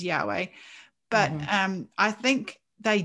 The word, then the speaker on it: Yahweh: lord and especially well we don't know how yurtei vahe is actually pronounced we guess it's yahweh but um i think